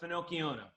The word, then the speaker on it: Finocchiona: Is this the Finocchiona? My pronunciation is terrible. Yes, this one is the Finocchiona.